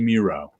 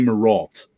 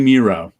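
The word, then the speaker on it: Mireault: his last name because i pronounced it wrong bernie it rhymes with zero bernie miro okay i always call them bernie marault uh but it's bernie miro he did that's the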